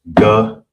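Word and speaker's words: גיד: It's pronounced gayad. All right, gayad. Of course, you got the ga by itself, one connector. Then you got the ya, and that's the duh. And that creates yad. All right. It wouldn't be ga ya duh.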